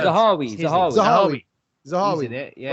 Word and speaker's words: Zahawi: Manawi. Am I saying it right? Zahawi.